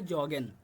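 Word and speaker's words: joggen: একটা exceptional word এটা সবাই খেয়াল রাখবেন এখানে উচ্চারণটা হবে জগেন অর্থাৎ ইয়গেন হবে না জগেনের মত উচ্চারণ হয়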